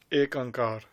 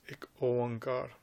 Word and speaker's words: Ik Oankar: You will get some people saying instead of Ik Oankar, they'll say Ek Ankar because of the writings that they've read of Bhai Gurdas Ji. But the actual pronunciation is Ik Oankar.